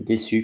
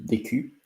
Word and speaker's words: déçu: And déçu contains the CCD, which means that it's not décu, it's déçu, because you pronounce the CCD like an S, not like a Q. CU, it's Q. CA, it's K. CO, it's CO. But with the CCD, it's the S sound, so it's good to know.